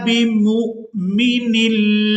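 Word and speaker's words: بمؤمن: यहाँ पर वाव जो है ये साइलेंट ही रहेगी और मीम को हमजा साकिन के साथ मिलाते हुए झटके के साथ अदा करेंगे।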